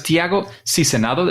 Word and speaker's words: Tiago Sizenando: Let's go, because Tiago Sizenando, is that a good pronunciation?